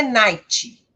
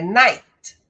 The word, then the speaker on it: night: E tomem cuidado para não colocarem som de vogal aqui no final. Não é night, é night, bright, fight.